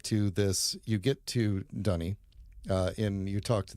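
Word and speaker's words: D'ni: people but it's um I I pronounce it the way they themselves say it in the game so dunny uh anyway at the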